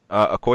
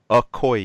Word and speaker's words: Okoye: what's-her-name in the in the movie I forget a core yeah oh ye how do you say that Okoye yay okay okay um yes yeah I was